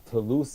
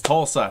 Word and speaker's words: Tulsa: Let's move on to the Toulouse Oilers. Did I say it right this year, or is it wrong again? It's wrong. It's Tulsa. Tulsa, come on.